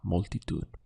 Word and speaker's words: multitud: we have a blow and we have la multi to it now to say she spoke to the crowd